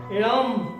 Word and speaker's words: लं: है लम से लंबोदर ल अक्षर का उच्चारण स्थान है दांत जब हम दांतों से उच्चारण करते हैं तो दांत ऐसे बीचे जाते हैं और दांतों को आपस में मिलाने से उसका जो उच्चारण आता है लम ऐसे उच्चारण आता है उसके बाद में